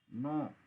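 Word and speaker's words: know: ये लिख लेना कहीं नो नो बोलते हैं इसको इसमें के साइलेंट होता है नो नो माने जानना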